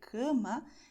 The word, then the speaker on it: cama: So you have to do the same thing that you do in English when you say English, but you have to, wow, make it with gusto, okay?